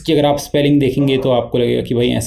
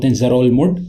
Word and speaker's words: Ngerulmud: Capital of Palau is Ngerulmud Pronunciation - N is silent in Ngerulmud and only around 300